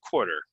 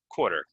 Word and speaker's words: quarter: one correct uh quarter I would say is the most common way to say this core core quarter quarter right this is a